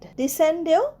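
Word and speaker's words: descend: এস সি এনডি ডিসেন্ড ডিসেন্ডেও সি উচ্চারণ হবে শুধু দেখ সেন্ড এর মত উচ্চারণটা হবে ডিসেন্ড ডিসেন্ড মানে নিচে নামা এয়ারপ্লেন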